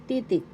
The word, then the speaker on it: titik: Titik first syllable T. Second syllable t the accent is in the first syllable tick. Titik titik in English letters.